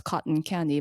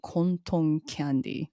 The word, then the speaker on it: Konton Candy: I thought it was Cotton Candy, but it's actually Konton Candy.